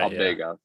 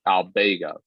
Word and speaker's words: Albegov: Albegov. Like they really they emphasize the bay in the middle of it. Yeah. It's like Albegov is the way that they say it.